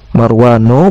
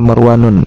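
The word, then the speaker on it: مروان: sehingga dia dibaca tanpa tanwin. Marwanu bukan Marwanun ya.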